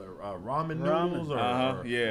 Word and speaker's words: ramen: Ramen Ramen. noodles? Or, Yeah. Rayman. Yeah, well, how do you say that now? It's ramen.